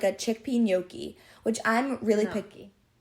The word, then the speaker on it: gnocchi: this type of Italian double c h in Italian sound like the letter k.